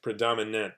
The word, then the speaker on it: predominant: The ant predominant. That if you try to remember ant hormigas, that might help you pronounce it correctly. Because people, what do people mix it up with? They mix it up with this word family predominate. But that's the end of the word is different.